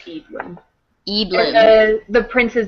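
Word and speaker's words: Eadlyn: e a d l y n but it's pronounced edin edin the prince's name sounds like a Utah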